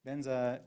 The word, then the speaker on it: Vajra: So this mantra, Oma Hong Vajra Guru Pema Siddhi Hong. You can also say Oma Hong Benza Guru Pema Siddhi Hong. Benza is the Tibetan way of pronouncing Vajra. Vajra is the Sanskrit word.